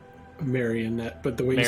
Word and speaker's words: Marionette: Next is Marionite. Am I pronouncing that right? Marionette, but the way you said Mario Marionette.